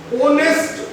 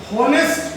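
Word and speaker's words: honest: अब क्यों देख लो, देखो ये है ऑनेस्ट मैन। हॉनेस्ट नहीं होता, इसका प्रोनाउंसिएशन होता ऑनेस्ट मैन।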